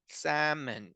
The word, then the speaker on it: salmon: sam and salmon so imagine that there is no l there it's just salmon that's the correct pronunciation